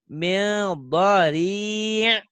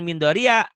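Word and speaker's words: ضريع: Laisa lahum ta'amun illa min dhari'. Ini ainnya nih. Jangan min dharia dibacanya. Min dhari' gitu.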